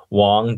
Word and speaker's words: Shuang: your last name yeah it's um i i'll phonetically help you guys so wong w-o-n-g but add an s-h in front of